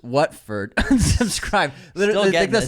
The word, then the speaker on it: Watford: Watford is pronounced Watford.